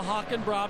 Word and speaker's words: Hackenbracht: Well, we know the pronunciation is now Hockenbrough because he's told us, but the answer to the question, he's like Kenny Wallace.